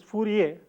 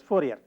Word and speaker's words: Fourier: a French mathematician administrator the fridge probably pronounced his name is Fourier but in common with the usage in english-speaking countries we refer to him as Fourier so Fourier when you